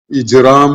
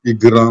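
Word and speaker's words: إجرام: criminals അപ്പോ crime എന്നത് ഇജ്റാം എന്ന അറബി വാക്കിന്റെ അതിന്നാണ് മുജരിമ വന്നിട്ടുള്ളത് ഇജ്റാം എന്നതിന്റെ മിസ്രി ഉച്ചാരണം ഇഗ്രാം എന്നായിരിക്കും ഇഗ്രാം എന്നതിൽ നിന്നായിരിക്കണം ക്രൈം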